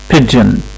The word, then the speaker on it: pigeon: pigeon pigeon، يبقى هنا ال P اتنطقت زي ما هي، ال I قصيرة، ال G اتنطق D و J مع بعض pidge، وال E وال O اتنطق I pigeon pigeon.